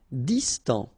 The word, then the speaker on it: distant: Distant. Final T not pronounced.